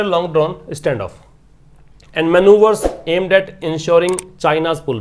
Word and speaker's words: manoeuvre: इसका मतलब ट्रिक होता है मनूवर, इसको मनूवर बोलते हैं, MANOEUVRE, मनूवर नाउन है।